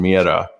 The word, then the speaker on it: Mira: It's Mira. It's spelled Mira. Nice. So it's going to be roll those R's.